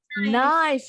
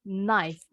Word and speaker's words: knife: Knife. Yes, well done. The K is silent. Knife.